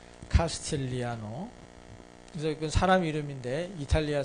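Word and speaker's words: Castigliano: 카스티글리아노 이렇게 하게 되면 써 있는 대로 간 거죠. 이거는 카스틸리아노입니다. 이게 G가 발음이 안 나요. 카스틸리아노.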